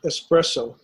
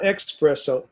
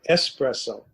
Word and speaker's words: espresso: is just a strongest strongest espresso not not expresso espresso some people have been